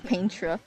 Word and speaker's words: Paintra: Oh, Also, I mispronounced her name. It's Paintra, and I saw Magalore.